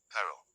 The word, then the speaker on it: perro: R, rr A single r is lightly tapped, pero, while rr is rolled or trilled more strongly, perro.